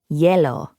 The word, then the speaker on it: hielo: Hielo, ice. Same pronunciation as the Spanish hielo.